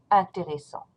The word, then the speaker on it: intéressants: Ils sont intéressants. Ils sont intéressants. You write down the S, but you do not pronounce it.